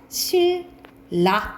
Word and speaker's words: 신라: L 쓴다라고 보시면 되고, 예를 들어서 우리가 신라 쓴다라고 생각하면 우리는 이거 발음이 어떻게 되니? 신라 이렇게 되잖아. 그러면은 리을은 L로 써요. 그래서 실라 이렇게 되겠지, 그치?